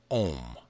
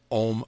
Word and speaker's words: om: of all sounds yes om om pronounced like o in on not like o in home prolonging the consonant and